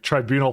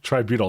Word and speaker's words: tributyl: of prerequisite Technologies like tribunal phosphate okay is that how you say it try butyl tributyl not Tribunal tributyl this chitin processing one